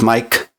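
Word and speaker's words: Maic: Yes, my name is spelled M-A-I-C and sounds as Mike.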